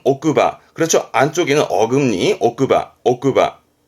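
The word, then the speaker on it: 奥歯: 발음은 오크바.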